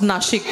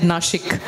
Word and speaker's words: Nashik: so much Mr Michael and you absolutely correctly pronounced nashik so we got really happy when you said nashik oh really I thought I would get some